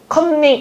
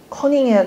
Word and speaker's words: 커닝: 컨닝 이것도 많이 틀립니다. 커닝 하는 겁니다.